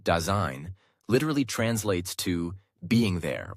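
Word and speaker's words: Dasein: Daign pronounced daine literally translates to being there or presence.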